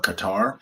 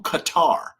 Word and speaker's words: Qatar: So now this doesn't include the fact that I've been on the A380, wonderful experience, A350 long range from Miami to Doha, Qatar.